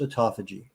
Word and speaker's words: autophagy: Au T FY p h a g y pronounced autophagy easiest way to think of autophagy is that